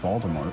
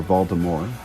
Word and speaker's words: Voldemort: Down here we have some stuff on display like Hagrid's Hut and The Rise of Voldemort, which is a set. Or Voldemort, depending on how you pronounce it.